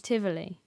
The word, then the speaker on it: Tivoli: do you say tiboli oh encounter many Gardens Tivoli Tivoli Gardens yeah yeah so that and so